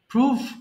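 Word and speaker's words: prove: করা cultivate cultivated cultivated প্রুভ প্রমাণ করা প্রুভ প্রুভ এটা অনেকে ভুল করে প্রুভেট বলে ফেলে হ্যাঁ যেগুলো ভুল হয়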